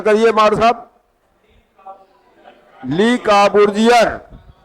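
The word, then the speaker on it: Le Corbusier: इसके वास्तुकार हैं ली काबूर्जियर। ये फ्रांसीसी था। अब देखिए पूछेगा चंडीगढ़ शहर का वास्तुकार कौन था, क्या बताएंगे? जब उच्चारण करिए मार साहब। ली काबूर्जियर, ये फ्रांसीसी था।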